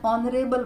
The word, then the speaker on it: honorable: use n how for example he is an honorable person honorable here H is that sound of H is silent same way she's an honest lady or